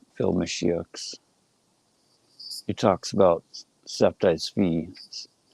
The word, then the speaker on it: Sabbatai Zevi: He talks about Septai Tzvi, what most English speakers would pronounce as Sabbatai Zevi, the dude that took